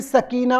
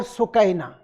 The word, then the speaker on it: Sakina: Arab maqatil, they will mention Bibi Sakina or Sukaina. They both have pronounced it like Sukaina or Sakina, either one.